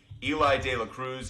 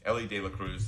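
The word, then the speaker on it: Elly De La Cruz: favorite players every day Eli De La Cruz Ellie De La Cruz Ellie De La Cruz that's how I should pronounce it and you're taking Dela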